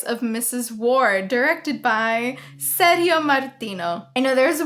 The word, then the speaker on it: Sergio: I say Sergio listen I'm a Latina that is how you say that name okay we say Sergio I know that like you guys say Sergio but I'm not going to be saying Sergio the strange advice of